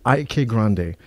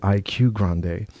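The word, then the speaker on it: Ike Grande: IK Grande. I'm going to do a video about it because a lot of people call it IQ Grande.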